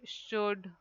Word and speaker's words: should: So you can write should, would, could. Here all L is silent in these words.